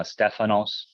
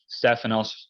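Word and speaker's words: Στέφανος: see the top right Sigma Tau Epsilon Phi nice ph sound Alpha new Omicron Sigma Stefanos Stefanos literally meaning crown it's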